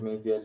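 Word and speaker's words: Meinvielli: Júlio Mainvielli se escreve Padre Júlio, né? Julio. Mainvielli é M-E-I-N de navio, V-I-E-L-L-E. Júlio Mainvielli.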